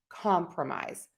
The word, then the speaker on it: compromise: We're using the schwa and that's that relaxed quick h sound because that syllable is unstressed. We're going to say pro. So, promise compromise.